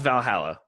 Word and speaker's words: VA-11 Hall-A: the name of it it's pronounced it's called Valhalla but it's spelled out V a - when you say